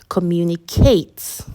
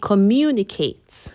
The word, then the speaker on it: communicate: them to understand because I'm stressing Kate communicate right but the right pronunciation is with the stress on me so I should be saying communicate and then an English